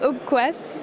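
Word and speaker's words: Opquast: Alors ça se prononce open quast pour open quality standards.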